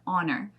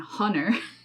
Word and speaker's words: honor: words like hour and honor you don't pronounce that h at all so you don't say hauer and hunner that sounds so weird